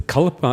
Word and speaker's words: kalpa: It's kalpa is the Sanskrit word. In Pali we say kappa. It's the same word, a slightly different pronunciation.